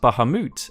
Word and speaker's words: Bahamut: in muslim storytelling and this particular Muhammad was pronounced Baha moot and was transcribed as such by an English scholar